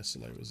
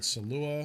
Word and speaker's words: Salewa: I think Salewa is the correct way to pronounce it. That's how mostly everyone... I've heard Salua.